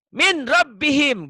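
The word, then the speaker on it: مِنْ رَبِّهِمْ: Min rabbihim gitu ya. Min, jangan mentang-mentang idgham min rabbihim, jangan salah. Min rabbihim, jangan ditahan. Kalau nun matinya ketemu lam, N-nya jadi apa?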